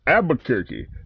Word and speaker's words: Albuquerque: Albuquerque, New Mexico.